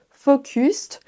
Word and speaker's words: focused: Peut-être que vous dites focused, mais attention, ni le O ne se prononce comme un O, ni le U ne se prononcera comme un U à la française. La première syllabe, en fait, il y a 2 sons, c'est une diphtongue, on va dire faux, faux. Il faut d'abord faire un son O et ensuite un son OU.